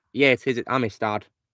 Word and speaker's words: Amistad: Amistad? Yeah, it is Amistad. Amistad.